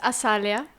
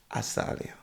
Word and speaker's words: Asalya: record for the record say it properly for everyone to hear so it's asalia assalia yes I was putting the Zed yeah I have like